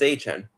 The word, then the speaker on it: Travis Etienne: They pronounce it as was it Etienne, whatever it is, or Etienne. Yeah, he says it's Etienne.